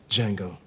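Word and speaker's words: Django: Jango. Can you spell it? D-J-A-N-G-O. The D is silent.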